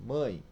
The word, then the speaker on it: mãe: u e mesmo caso mãe escreve com e pronuncia-se com i mãe Ok até mais outro